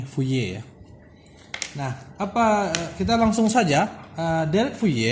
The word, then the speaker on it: Fourier: pembahasan mengenai deret W tulisannya houllier ya dari bacaannya ini wuye karena puye ini adalah or seorang matematikawan atau ilmuwan berkebangsaan Perancis maka nama Yanti bacanya nih fuye Nah apa kita langsung